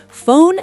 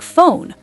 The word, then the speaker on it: phone: PH sounds like F. Wait, really? Like in phone? Exactly. Phone sounds like phone. Photo sounds like photo. Elephant has the F sound in the middle.